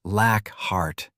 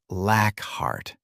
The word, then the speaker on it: Lackhart: "It's pronounced Lackhart," Dead corrected, as Aidan took the ID from him. "Not Lackhart."